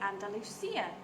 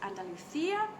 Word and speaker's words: Andalusia: our region is called Andalusia, or some people say Andalusia, depending on whether you spell it with the C or with the S. So I'm bilingual, so I pronounce it Andalusia, and that is the region that I am in.